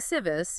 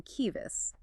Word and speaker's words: civis: C and she are always pronounced as K. So if you see a word like civis, You're not saying civis, you're hearing kivis.